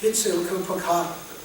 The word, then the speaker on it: Huitzilopochtli: And it's not all that important, but it just goes to show you, how difficult it is to pronounce some of these words. Huitzilopocatli. Huitzilopochtli.